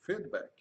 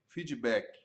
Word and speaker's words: feedback: Nome, a pronúncia inglesa, feedback. Ou, abrasileirando, aportuguesando, feedback.